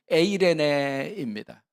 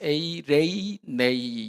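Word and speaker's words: εἰρήνη: 어떤 학자는 이제 저 N자 비슷하게 되어 있는 게 이제 에 발음인데, 요새 나오는 젊은 학자들은 저걸 에라고 읽지 않고 에이로 읽어요. 그래서 에이레이네이 이렇게 읽기도 하는데 뭐 같은 말입니다. 에로 읽거나 에아이로 읽거나 에이로 읽거나 같은 말인데, 에이레네, 저게 이제 구약의 히브리어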